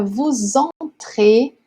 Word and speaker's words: vous entrez: O verbo começa com uma vogal, o vous, que o SS que nunca é pronunciado, a não ser que ele faça a liaison.